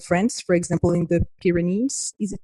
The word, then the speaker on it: Pyrenees: the south of France, for example, in the Pyrenees, is it pronounced Pyrenees?